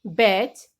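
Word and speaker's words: batch: Silent T, किसी भी word में T के बाद CH आए तो T साइलेंट रहता है। Like वॉच, स्नैच, बैच, मैच, इन सभी वर्ड में T के बाद CH आ रहा है, इट मीन्स कि हम T की आवाज नहीं लेंगे, T को साइलेंट रखेंगे, सीधा ही बोलेंगे वॉच या फिर स्नैच, बैच या फिर मैच।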